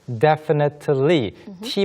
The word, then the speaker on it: definitely: definitely, T 발음이 좀 부드러워지는 경우가 많이 있습니다. definitely, Definitely. Or you can say definitely if you want.